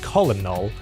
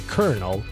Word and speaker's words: colonel: word kernel out loud because it's spelled c o l o n e l it should be said colal but then but like inter I know that's not right it should be kernel but English why anyway